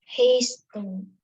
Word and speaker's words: hasten: Hasten.